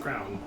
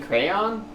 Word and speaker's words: crayon: capture my likeness and crown you mean crayon crayon crown whatever rounder things you wear on your head shut up that's how i've always pronounced it all right well that's